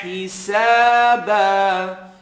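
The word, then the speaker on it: حسابا: Yarjuna hisaba. He, make the E sound. I need to be able to hear the feel. So heel, hisaba.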